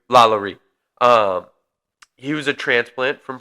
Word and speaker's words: LaLaurie: I think it's LaLaurie. LaLaurie.